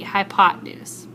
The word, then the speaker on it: hypotenuse: sounds hi pot news the e in the middle is silent it you don't have to say that e hypotenuse pythagorean theorem that's what